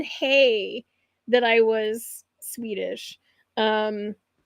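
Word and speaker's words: hej: in in Scandinavia they their word for hello is hey and it's h EJ is how they spell it so they they when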